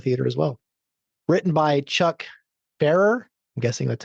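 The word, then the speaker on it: Chuck Pfarrer: Written by Chuck Farer. I'm guessing that's how you say his name. The P is silent.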